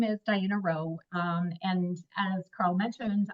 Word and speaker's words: Rheault: say this which is my last name is pronounced row just like r w even though you would never know that from the way that it's spelled um so for those